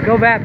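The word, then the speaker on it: Gò Vấp: here and go back yes that's how you say it that's how I say it go back go BAP district is a popular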